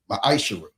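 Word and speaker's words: מעשר: You can find this in the book of numbers 18 21 the book of Malachi 3 8-10 means 10th in Hebrew and is pronounced misher 10% of every penny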